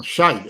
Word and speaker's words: shite: do not know um you could call it the shite show or the shat show yeah know shite sh Shi T shite sh that's how that's how they say it in uh I guess